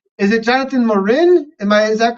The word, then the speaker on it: Morin: um get our guest on Nathan yeah Jonathan Maureen Jonathan uh welcome to the program Jonathan uh real quick I want to make sure I am pronouncing your name correctly is it Jonathan Morin am I is that correct Bud Lauren Warren